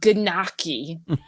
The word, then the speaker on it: gnocchi: I forgot how she said it, but then my mother, the Italian one, was like, "Oh no, you say it like this, gnocchi."